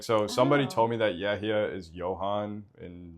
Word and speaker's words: Yehia: Like I used to have teachers call me Yehia, Yehia. That's so bad. Yeah, I know. The most it's like really not hard. It's just the H. it's 2 syllables, and I think it's